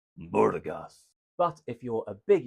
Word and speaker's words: Burgas: [cheering and screaming] And I do have it on very good authority that you are indeed supposed to pronounce it like a scary mafia boss, Burgas.